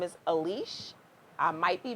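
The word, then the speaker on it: Aliche: her last name is a leash I might be mispronouncing it but her last name is spelled al I CH e her first name is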